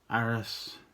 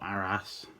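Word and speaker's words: Arras: This one's Aras, or Aras, however you want to pronounce it. Different people pronounce it different ways.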